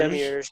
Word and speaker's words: Demiurge: Demiurge, yep.